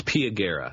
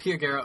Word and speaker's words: Pia Guerra: Do you know how to pronounce the artist's name? It's Pia Guerra. Pia Guerra.